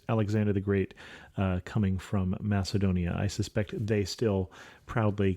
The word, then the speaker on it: Macedonia: expect it, and then I'm going to say it right, Macedonia or Macedonia.